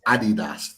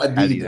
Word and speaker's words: Adidas: It's Adidas. Not Adidas. Adidas.